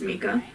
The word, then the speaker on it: Micah: katie and shitty boyfriend micah pronounced mika have moved house over